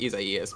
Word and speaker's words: Isaias: there is after Isaias, I know it's pronounced Isaias, but Isaias is so much easier for me.